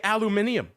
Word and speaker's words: aluminium: We're going out to, as the Brits say, aluminium.